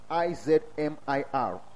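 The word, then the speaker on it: İzmir: I-Z-M-I-R. Izmir or something, when they pronounce it.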